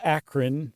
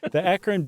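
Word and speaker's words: Akron: I say akan beacan the akan Beacon Journal I say it like a local yeah sure and it's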